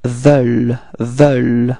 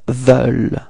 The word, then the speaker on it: veulent: not so deep, actually, it's quite open, it's veulent, okay? The final ENT is not pronounced, okay, so actually you only pronounce this V, E, U, L and quite light, okay, so it's ils veulent.